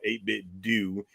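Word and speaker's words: 8BitDo: I found out unfortunately we've all been pronouncing it wrong because they want to be called 8bit do even though they're modeling their name after Nintendo what okay that's D the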